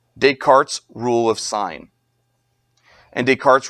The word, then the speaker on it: Descartes: the bathroom is for this person's name is pronounced no deart deart okay no it's decart it's not Descartes it's decart why make the name harder to say it's